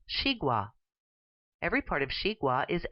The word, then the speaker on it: xigua: This vegetable is pronounced xigua.